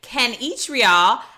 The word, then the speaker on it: Kanichirayil: am in great company I have Dr Ken each real how are you Dr well I'm I'm fantastic you nailed my uh my pronunciation of the last name so very few